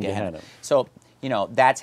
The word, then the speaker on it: Gehenna: So let's just talk about, you know, I'm going to pronounce Hades and Gehenna. I'm just going to pronounce it like an American, you know, Hades and Gehenna.